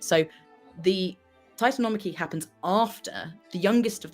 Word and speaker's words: Titanomachy: And it's a key bit of Greek mythology, and it is the Titanomachy.